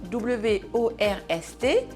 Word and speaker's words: worst: Il s'écrit W O R S T, mais il se prononce, écoutez bien, worst.